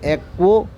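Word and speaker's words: aqua: तो H2O को हम लोग भले ही ये न्यूट्रल है, लेकिन इसको हम एक्वो करके प्रोनाउंस करते हैं।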